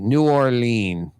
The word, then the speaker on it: New Orleans: And the new is spelled N-E-U, by the way. N-E-U. Orleans, double E. Double E. New Orleans.